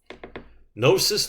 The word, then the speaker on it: gnosis: with sugar or carbohydrate gnosis the g is silent means knowledge i don't